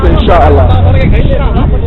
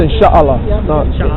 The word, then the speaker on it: inshallah: God willing in Arabic that's not it's inshah it's inshallah not I got that okay